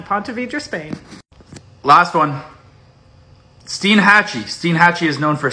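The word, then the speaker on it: Steinhatchee: in 1929 after ponte vedra spain last one steen hatchy steen hatchy is known for scalloping and the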